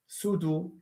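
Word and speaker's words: pseudo: Sudo cleft. By the way, this is not in French, but in in English is pronounced as sudo.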